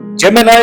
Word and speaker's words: Gemini: दोस्तों, हमारा आज का ज़ोडिएक साइन है बुर्जे जोजा, जिसका इंग्लिश नेम है जेमिनाई। इसे जेमिनी भी प्रोनाउंस करते हैं।